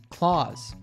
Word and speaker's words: Claus: the s for clause which is also pronounced as a z sound clause and finally we have